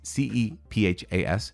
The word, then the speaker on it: Cephas: don't like it but kefa sounds actually more uh close to what it would be called in Hebrew or Aramaic uh in those Mediterranean languages and actually there's an argument the pronunciation is kefa so there we go